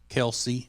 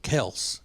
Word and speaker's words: Kelce: And the story is that their dad got tired of correcting people who would call him Kelce, and he just went with it. Huh. So they asked him if they could, go back to being called Kels, and he said, "Do